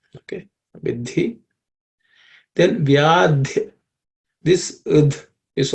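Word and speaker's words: विधि: In the third line, vidhi, this idhi is a compound consonant. It comprises of id and id. Okay, so the second letter in that compound consonant is aspirated, so it should be pronounced vidhi. Okay, it should end with an aspiration.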